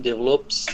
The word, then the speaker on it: develop: you please the first sentence yes every generation develops a new slant but with the development of